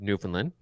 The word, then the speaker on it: Newfoundland: it's it's very simple you say everything as fast as you possibly can accept the word Newfoundland and all of the vowels are pronounced and and that's it so how's you getting